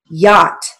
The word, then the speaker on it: yacht: Yacht. Now let's look at the word yacht. It's spelled with an A, but it has a ah sound, so we're going to use the broad A.